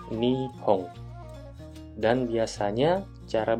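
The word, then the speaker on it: 日本: Ini kanji yang artinya Jepang, dibaca Nihon.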